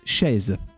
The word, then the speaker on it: chaise: It's chaise. And yes, the SE is just pronounced like a Z. It's chaise. You know, like fez, but you put sh at the start, and it's chaise.